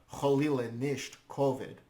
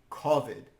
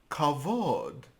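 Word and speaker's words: כּבֿוד: so or God forbid kovid this word is kovid it means honor oh kavod yes but in the Ashkenazi pronunciation it's kovid which is related to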